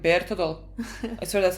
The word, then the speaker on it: Bertolt: Like, I mean, honestly, they say Berthold. Oh yes, that's how people say to pronounce his name, but the way everyone says it in the show is like Bertolt.